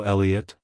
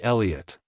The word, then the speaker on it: Elliott: pronounced as Elliot Elliot Elliot to pronounce it correctly emphasize the first syllable e and then Lee and uht make sure to pronounce the T at the end softly like hello Elliott goodbye Elliott if you found the